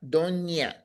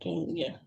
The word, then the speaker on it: doña: to say it today, we have this little scribble that we put on the end Yeah. Mm-hmm. called that enye. So you say don, but Doña. doña, Donya. doña Maria.